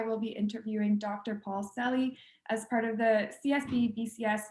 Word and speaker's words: Seli: It's actually pronounced Seli, not Seli.